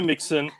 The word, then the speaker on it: Mixon: name is joe and his last name rhymes with president president nixon it's joe mixon the guy who last